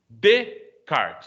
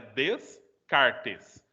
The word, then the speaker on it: Descartes: E, enfim, Descartes. Então, essa palavra seria separada, né, Descartes. Aí junta tudo, aí você pronuncia ainda como se fosse separado. Descartes.